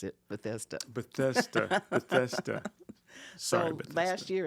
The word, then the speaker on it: Bethesda: so I it's in Maryland right uhhuh it's Bethesda that's how you pronounce it Bethesda bethesa bethesa Sor last year and this year